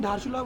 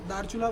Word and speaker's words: धारचूला: अच्छा, इधर साइड को हम धारचूला बोलते हैं लोकल में और उधर वाले साइड को दारचूला बोलते हैं जिसमें एच साइलेंट हो जाता है।